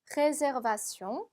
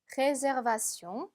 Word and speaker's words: réservation: 영어하고 단어 생긴 거는 악상 하나만 빼고 똑같은데 발음이 조금 다릅니다. réservation, réservation.